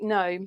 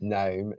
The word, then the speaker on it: gnome: with a G but a silent G like gnome gnome yes so Norbert and Norman